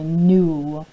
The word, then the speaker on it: knew: It's got a silent letter. I knew there was a silent K in new. So that's how I remember it. This K is hard to remember, and that's the one that